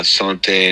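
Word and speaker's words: santé: they say salude Salud in in Spanish uh Sante in French NAIA is Russian slancha is Irish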